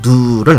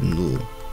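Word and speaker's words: ν: 얘기했던 광전 효과에서 사용하는 진동수 누를 나타내는 거라고 읽어요 누 누 그다음에 여기 h 밑에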